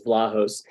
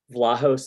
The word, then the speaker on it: Vlahos: It's a Greek name, and that it would be pronounced in Greece, which is Vlahos. And some of our family has sort of anglicized it, and some haven't. I'm in the camp that does it with the long A, because to me, Vlahos